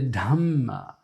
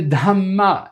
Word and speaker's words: Dhamma: Not the Dhamma, but the Dhamma. That's aspirated DH, and there's a double M, there's a double consonant.